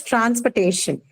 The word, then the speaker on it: transportation: Then next is transportation. Second, Transportation. second last syllable.